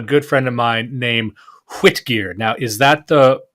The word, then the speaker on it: Hwitgeard: white ah okay thank you for sorry um is the old English for white yard essentially